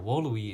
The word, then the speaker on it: volui: Now, wooluhwee is actually kind of interesting because in classical Latin, the V's are pronounced as W's.